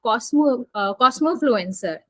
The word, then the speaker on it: cosmofluencer: So you have coined a term for yourself, cosmofluencer. Am I pronouncing it right?